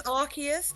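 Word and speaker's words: Arceus: It is Archus, but I always say Arus cuz it's So, the next expansion is tomorrow in TCG pocket.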